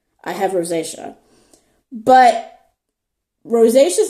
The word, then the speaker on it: rosacea: Rosacea. I have rosacea.